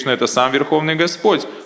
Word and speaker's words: Господь: Здесь Господь Индру называет Кришну Бхагаваном, подчеркивая, что Кришна — это сам Верховный Господь, а не просто обычный ребенок.